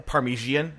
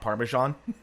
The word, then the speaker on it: parmesan: now 20 year old calls it a parmesian not parmesan i never got the perm parmesan even parmesan because it's parmesan there's no i in there okay now we're just